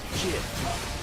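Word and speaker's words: GIF: It's pronounced Jif. Huh? .Jif, like the peanut butter. The creator said so.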